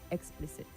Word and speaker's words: explicit: Explicit and not explicit. Explicit. The stress is on the second syllable.